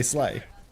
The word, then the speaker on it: Slee: I would say Slay, but I think it might be Slee. It is Slay? Is it Slay? Is it Slay? Oh, okay. Well, then I'll just say Slay.